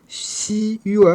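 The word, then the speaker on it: xué: C'est de cette position unique qui jaillit le son U immédiatement suivi de la glissade vers le E notre fameux E.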